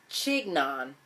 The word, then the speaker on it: chignon: I need to look up what a chignon. No. According to Chignon. Okay, no. You're just not going to spell it right.